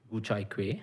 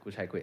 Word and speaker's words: Gu Chai Kueh: Gu chai kueh. Gu chai kueh is actually pretty good pronunciation.